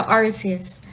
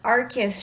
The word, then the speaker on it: Arceus: mood i know um arceus is supposed to be pronounced arcus but i cannot say that i'm so used to arceus yeah same here the